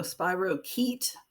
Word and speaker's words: spirochete: of bacterium called spirochete the ch is a hard sound so spirochete spirochetes when you look at them